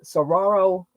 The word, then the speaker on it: saguaro: And to go to Ironwood and see all the, of course you get the saguaro cactus. I think I said it right. Saguaro, yeah.